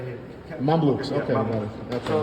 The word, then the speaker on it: Mamluks: Mamluks.